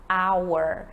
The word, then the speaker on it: hour: por exemplo, da palavra hour. Hour é uma palavra que começa com H, mas o H é mudo, ele não tem som nenhum.